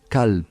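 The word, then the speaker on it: كلب: Por ponerte un ejemplo, si nosotros decimos qalb, con una K gutural, qalb significa corazón, pero si te decimos kalb con una K menos gutural, mucho más suave, kalb significa perro, con lo cual el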